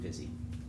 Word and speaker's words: Physi: So this is Physi, pronounced Physi.